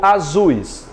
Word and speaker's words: azuis: Eu digo, eu tenho olhos azuis ou azuis?